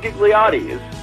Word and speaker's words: Ghigliotti: from for one but the H throws everybody off and basically that H